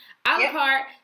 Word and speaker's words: A la Carte: Is I pronouncing it right? Yeah. A la Carte.